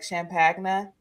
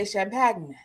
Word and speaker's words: champagne: so funny how like people like say champagne like champ pagna but in France that's really how they say it really I say champagne sh they say champagney I'm probably still saying it wrong but it still sounds like that like CH like they say it like that it's not they don't say champagne at all where the hell